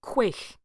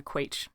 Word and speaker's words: quaich: The ceremonial cup is a quaich rather than a quaich.